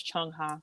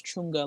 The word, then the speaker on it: Chung Ha: Yeah, her name is Chung Ha, and she says Chunga like all the time.